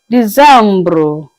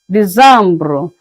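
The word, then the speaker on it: Décembre: December is pronounced as Decembre, Decembre. So that's all we have for the months in a year.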